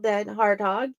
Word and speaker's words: DenHartog: And you did a great job pronouncing my last name. I should have asked before the show. I'm so glad I got it right. You did it perfect.